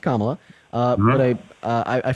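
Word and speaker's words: Kamala: um to vote for Camila you can say I don't know okay so first her name is pronounced kamla uh but I I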